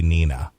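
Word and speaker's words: Pnina: This recent event is predated by another anti-Semitic episode which occurred last year after P-N-I-N-A, Penina, or Nina with a silent. It could be Nina.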